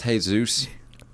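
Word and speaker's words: Jesús: Drew like okay Jesus it's pronounced hey Zeus have you guys ever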